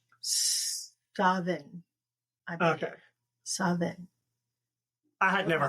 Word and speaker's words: Samhain: there is no V in the Gaelic language. I did not know that. So MH is pronounced as V. So it would actually be Savin.